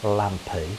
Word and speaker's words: Lampi: today the destination is lampi waterfall sometimes pronounced lampy there are two spellings